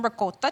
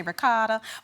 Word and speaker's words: ricotta: So we'll start with some ricotta cheese. If you're from the South like me, we say ricotta, but it's actually ricotta.